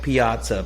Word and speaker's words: Piazza: for the Mets and his name kind of sounds like pizza no laying in the pizza capital of the world it don't sound like pizza it's spelled like pizza whatever means tomato tomato